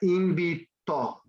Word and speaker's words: invitó: And it'd be the accent on the O. No. Invitó. Here we go. Invitó. Invitó. Invitó. So does my voice go up there?